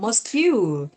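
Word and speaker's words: mosque: itu anak-anak bacanya adalah mosk ya. Jadi betul sk ya. Masjid adalah mosk seperti itu like ada knya mosk seperti I learn eh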